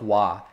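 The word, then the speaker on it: は: use the wa hiragana, they use the ha hiragana, which is H-A, and then they pronounce it like wa.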